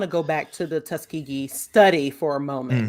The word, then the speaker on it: Tuskegee: Tuskegee, you're right, it's Tuskegee. I said it wrong, but which is people